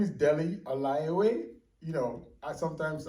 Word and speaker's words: Dele: you go thanks guys um my name is Delhi alayaway you know I sometimes I say it